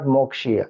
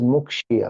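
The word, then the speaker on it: मुक्षीय: It is not Mokshiya, it is Mukshiya.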